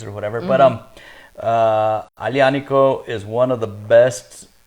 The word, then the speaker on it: Aglianico: in a second yes i love alianiko spelled with the g by the way um a g just messing with you just one of those good italian spellings to to mess with the with american english speakers or whatever but um